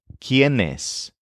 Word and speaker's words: quiénes: So we used quiénes, which is spelled Q-U-I-E-N-E-S with an accent mark over the first E.